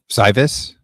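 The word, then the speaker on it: Cywes: Cywus. How do you say that? Brian Cy Cyus.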